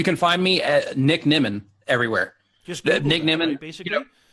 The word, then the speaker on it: Nimmin: You can find me at Nick Nimon everywhere.